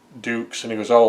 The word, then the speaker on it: Dux: Uh he said, "You're Frank Ducks." He goes, "No, no, no. It's pronounced Dukes." And he goes, "Oh, like put up your Dukes, right?"